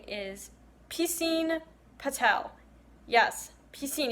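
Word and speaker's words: Piscine: this man's name is P Singh Patel yes he's seen if you know French pool swimming pool but because everyone kept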